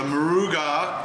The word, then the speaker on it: Moruga: uh Carolina Reaper and there's this is the maruga Scorpion I finally figured out how to say